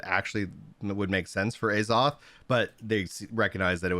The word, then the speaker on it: Azoth: manipulated the use of it's pronounced azoth by the voice actors